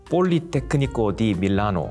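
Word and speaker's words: Politecnico di Milano: 발음이 어떻게 되나? 그 폴리테크니코 디 밀라노.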